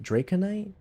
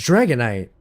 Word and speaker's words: Dragonite: Oh, draconite. Draconite. Is that how it's spelled? Hold on. Now I'm curious. No, it's Dragonite. I'm about to say I knew I wasn't tripping. Dragonite.